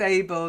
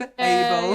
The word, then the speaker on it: able: Yes, able, not Abe, able. Yeah.